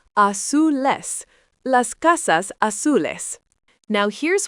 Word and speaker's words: azules: Los coches azules, pronounced azules.